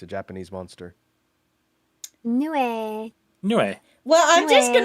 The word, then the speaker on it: Nue: It's pronounced Nue. It's a Japanese monster. Nue.